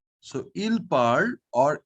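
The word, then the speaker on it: parlent: l e n t this final ent will now will never be pronounced okay you will come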